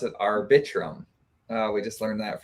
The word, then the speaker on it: Arbitrum: chat yeah but this this is amazing you pronounce it arbitrum uh we just learned that from Dylan today so you know our bedroom I'm just gonna keep saying it like I'm saying it arbitrum yeah absolutely AKA Fame I'm buying Lambos and